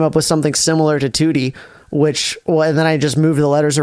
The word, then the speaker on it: Tewtiy: Because that's what everyone pronounces it. Yeah, everyone pronounces it like Tewtiy.